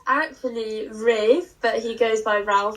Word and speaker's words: Ralph: I think it's actually Ralph. No, it's actually pronounced Ray. I'm pretty sure it's pronounced Ralph, but he changed it to being pronounced Rafe. No, it's actually Rafe, but he goes by Ralph because it's easier.